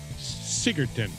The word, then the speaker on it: Sigurdsson: Sigurdsson.